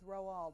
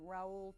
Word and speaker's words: Roald: And his first name actually is Roald. We get all kinds of variations on that, everything from Raoul to Ronald. But in fact, he was named for the man who discovered the South Pole, Roald Amundsen. It's a Norwegian name.